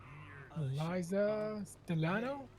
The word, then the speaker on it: Eliza Stellano: Eliza Stellano? Is that how you pronounce it?